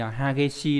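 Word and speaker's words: 激しい: Chữ khích này đọc là gì nhỉ? Hageshi đúng không?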